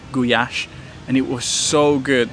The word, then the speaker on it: gulyás: traditional Hungarian soup called goulash, or actually in Hungarian it's pronounced gulyás, and it was so good that I had to order another one.